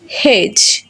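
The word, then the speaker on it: hedge: যখন আমরা দেখব ডি লেটারের পরে জি লেটার থাকবে তখন ডি সাইলেন্ট থাকবে। যেমন জাজ, ব্যাজ, হেজ, ওয়েজ অ্যান্ড এজ। এই লেটারগুলো যদি আমরা লক্ষ্য করি দেখব ডি এবং জি একই সাথে থাকার কারণে এবং ডি এর পরে জি থাকার কারণে এখানে ডি সাইলেন্ট হয়ে গেছে।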